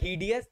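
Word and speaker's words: hideous: adjective ही है सर और इसका प्रोनाउंस होता है डियस मैंने डियस ही पढ़ा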